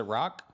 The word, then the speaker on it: RoC: this is sponsored by Rock skincare Roc is it Rock yeah that's how they say it the rock skare well